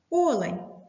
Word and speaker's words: олень: як відгадує кролиця може олень Відгадала правильно але треба ставити наголос на перший склад олень зауважує лис оцей так